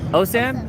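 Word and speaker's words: OSIM: best thing oh Sam is that how you pronounce it yes oh Sam yeah all right we are at the world's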